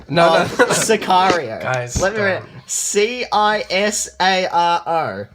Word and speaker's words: Sicario: in the right but you even pronounced it as like sorrier you didn't say Sicario you said sorry that's Azaria yeah because